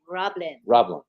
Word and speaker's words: RobLynn: RobLynn. RobLynn. It's one word. RobLynn. And it's one syllable.